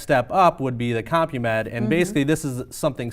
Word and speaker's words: CompuMed: And let's talk a little bit about why somebody might choose to do this is the CompuMed, is that how it's pronounced?